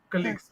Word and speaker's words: colleagues: that uh so your colleagues right your colleagues colleagues okay that be not not college but that would be colleages okay KES kages okay